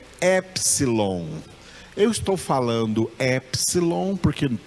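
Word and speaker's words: έψιλον: Essa palavra, esse nome dessa letra, epsilon, o P é mudo. O P está escrito aí, mas ele não é pronunciado. Então, a pronúncia correta dessa letra em grego é epsilon.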